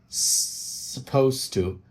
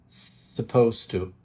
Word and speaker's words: supposed to: Также обратите внимание, что я не произношу звук, букву U после S в слове suppose. Supposed to. Supposed to. То есть там звук, вы правильно догадались, наш любимый шва. Очень краткий звук, можно, если хотите, вообще его не произносить.